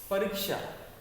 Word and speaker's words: परीक्षा: तो र में र का उच्चारण हम ज्यादा देर तक कर रहे हैं तो परीक्षा कहेंगे, परीक्षा।